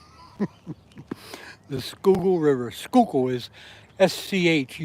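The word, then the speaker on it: Schuylkill: That ain't how you spell it. The Skoo River. Skook is su Y L K I L. Skook River.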